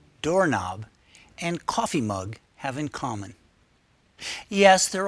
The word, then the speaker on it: coffee mug: And the first word is always pronounced stronger than the second. Light bulb. doorork knob, coffee mug.